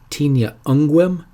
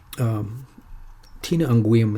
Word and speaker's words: Tinea unguum: Tinea unguum is the way it's pronounced. Did I say that? I think I might have messed that up.